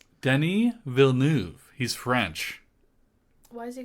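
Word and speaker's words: Denis Villeneuve: did you know the director's name is not Dennis villain no the his name Denny vnu he's French why does he go by Dennis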